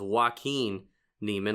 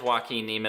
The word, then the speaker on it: Joaquin Niemann: it's actually pronounced is Joaquin Niemann, like Joaquin Phoenix, you know? It's you Joaquin. love, Yeah, it is Joaquin Niemann.